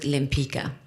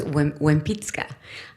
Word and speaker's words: Lempicka: name, I learned, so we pronounce it Lempicka at home, but in my first trip to Poland, I realized that the L is pronounced wa, so it was Wempicka.